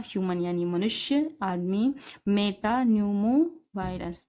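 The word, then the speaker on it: metapneumovirus: human यानी मनुष्य आदमी Meta Numa virus P silent है और या और यानी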